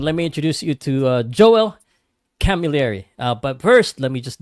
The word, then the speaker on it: Joel Camilleri: Am I pronouncing it correctly, the last name? You're doing it better than most. Yeah, it's Joel Camilleri, and the nickname's Kamakeo, so Joel Kamakeo Camilleri.